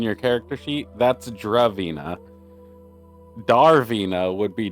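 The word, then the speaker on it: Dravina: Darvina En It's D R A not D A R Draina or Darvina Darvina the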